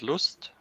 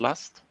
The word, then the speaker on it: Lust: but finally enough uh the word lust is spelled in the same way and used has the same meaning so it's spelt the same we pronounce it loosed not last right but there's no